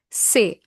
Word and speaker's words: ces: Say. CES is pronounced as say.